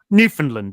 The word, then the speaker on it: Newfoundland: Oh, sorry, it's Newfoundland, isn't it? I forgot that's how you pronounce it.